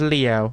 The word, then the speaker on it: Leo: venerable Leo I aoi it's with the kanji for lion to be sure but it's pronounced Leo i w you impressed let